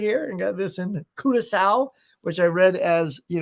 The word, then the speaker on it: Curaçao: and got this in Curaçao, which I read as, you know, Caraco. It is not Caraco, as I was quickly corrected by the tour guide. She goes, Curaçao.